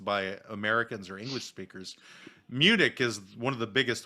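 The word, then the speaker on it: München: that are mispronounced by americans or english speakers munich is one of the biggest ones which i've never understood why we pronounce it the way that we do when it's actually pronounced munchin like that's why because we can't pronounce munchen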